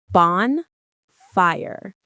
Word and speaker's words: bonfire: The stress is on the first syllable. Bon. Say it with me. Bon. Fire. It's like bond but with an N and then fire.